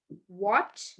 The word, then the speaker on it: what: W like for example what when which yeah so H is silent what when which there is W before H so H becomes silent vizzle vizel yeah that's another word vizzle h is silent okay did you get